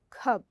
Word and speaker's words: cub: no it sounds different so cub has a short u and cube has a long u with an e in the end okay now we're ready